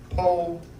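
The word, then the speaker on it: ποίημα: But the Greek word here, pomia, pronounced po-ye-ma, which means a good thing or a work.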